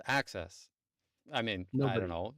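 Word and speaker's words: AHCCCS: Who would have known that a h cccs is pronounced as access?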